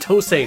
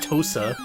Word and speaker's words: TOSE: It's pronounced TOSE, not TOSA.